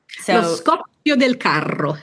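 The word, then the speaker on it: Scoppio del Carro: the cart and I'm going to let you pronounce it correctly. So delaro.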